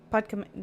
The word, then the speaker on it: Podkamennaya: Podkamenya.